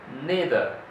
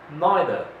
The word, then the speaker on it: neither: is this word and the American they say neither neither but in the British they say neither neither neither so that's actually the difference is